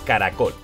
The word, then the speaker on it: caracol: Tenemos caracol. Truco de las palmadas. Ca-ra-col. Vamos al truco del lobo. Caracol. Fuerza de voz en col. Última sílaba.